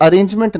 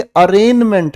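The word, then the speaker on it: arraignment: ये अरेंजमेंट नहीं है। ये अरेंजमेंट है। स्पेलिंग के अंदर क्या लिखा है? ए आई जी एन अरेंजमेंट है।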